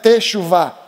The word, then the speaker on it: teshuvah: E teshuvah é uma palavra interessante porque a gente fala, pelo menos em português, são três sílabas, né? Teshuvá.